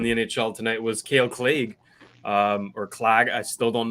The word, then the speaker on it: Clague: I'm pretty sure it's Clague. Yeah, I think it's Clague. Whatever. Yeah. Well, I heard an interview and he said Clague, so we'll go with that.